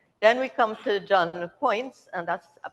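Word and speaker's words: Poyntz: we come to John points and that's point is the way to pronounce it rather than that spelling um he made 11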